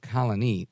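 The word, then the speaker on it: Colonie: called Colony right uh like Colony but instead of with an i uh a y at the end it's with an ie and the accent on the IE so Colony New York and the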